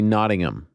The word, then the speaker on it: Nottingham: it's supposed to be nodding them like you don't you don't pronounce the h we got a lot